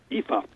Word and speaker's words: Aoife: another one really difficult a oh I F V which is Aoife eepa now that's because they're from the Celtic or should we say Celtic pronunciation you